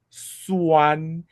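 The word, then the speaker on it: 酸: Yeah, this is the first tone in Chinese.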